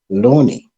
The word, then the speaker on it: LOANI: from herself you know the way she pronounced it Loney so I think what happened with this they always say I pronounce it wrong most of them some people you sayani they say Lani but that's the beauty